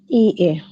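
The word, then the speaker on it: いいえ: ই এ। ইয়ে, ইটা একটু লম্বা উচ্চারণ হবে, ই এ।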